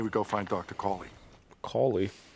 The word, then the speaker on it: Cawley: Cawley. If you take out the W, it's Cali.